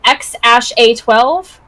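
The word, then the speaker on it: X Æ A-12: and forth on it that it's pronounced X ash a12 but that's literally what it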